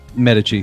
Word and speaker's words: Medici: The Queen of France, Catherine de Medici. Butchered that, whatever. It's a Medici? Medici, thank you.